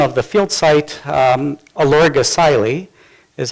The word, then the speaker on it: Olorgesailie: and the unpronounceable name of the field site elorg acai Li is how it's pronounced in Masai country in in the southern